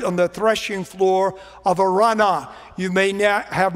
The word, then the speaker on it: Araunah: to the Lord on the threshing floor of Araunah. You may have not heard that name pronounced that way. There are three or four different ways that you can pronounce it. I prefer Araunah, the Jebusite.